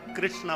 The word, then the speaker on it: कृष्ण: जाकर कृष्णा बनेगा और उच्चारण करने में जरा उच्चारण करो तो कृष्ण बोलो कृष्ण जब तक मुंह को टेढ़ा नहीं करोगे जीभ को घुमाओ ग नहीं तब तक कृष्ण का नाम निकलेगा ही बोलो कृष्ण कृष्णा अब